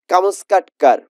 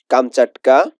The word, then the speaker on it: কামচাটকা: কিন্তু আসল যা বিদ্যা, আসল কোন বিদ্যাটাকে আসল বলা হচ্ছে, কামস্কাটকার। অরিজিনালি এটার উচ্চারণ হবে কামচাটকার, কামচাটকা, এর উচ্চারণ হচ্ছে কামচাটকা।